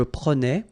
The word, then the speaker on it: prenais: So same thing here, final S not pronounced. Je prenais, tu prenais, il prenait, final T not pronounced, so the same form, okay?